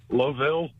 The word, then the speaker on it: Louisville: Yes, Tim, how do you say it? Louisville. There it is.